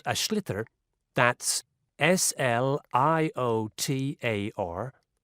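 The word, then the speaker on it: sliotar: basically you have to get this ball called ash litter that's SL IOT a or so it's not spells the way it's pronounced you his ears into the net for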